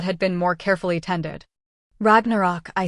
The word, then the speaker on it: Ragnarok: Ragnarok, I said, pronouncing it like most Americans would then more properly with rolled ars and o the ways he said it. Ragnarok.